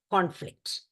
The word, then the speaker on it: conflict: Now, as a noun, when it is used, it is pronounced as conflict. Conflict. The O is long. And as a verb, when it is pronounced as conflict. As a verb, when it is used, it is pronounced as conflict. So, con. The O is pronounced a small.